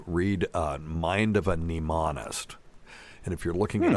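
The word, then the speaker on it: mnemonist: a mind of a neist and if you're looking it up remember neist is starts with a silent M for the people who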